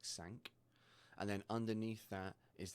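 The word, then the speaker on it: cinq: So on this example at the moment it says sank because that is how to pronounce five in French. It sounds like sank.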